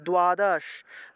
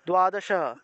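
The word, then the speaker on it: দ্বাদশ: করেন যে দ এর নিচে বফলা আছে তাহলে দোয়াদশ দোয়াদশা দোয়াদশ উচ্চারণ করব তক ত এর নিচে বফলা আছে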